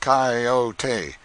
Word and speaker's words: coyote: rightly this latter was the regular coyote pronounced cayote of the farther deserts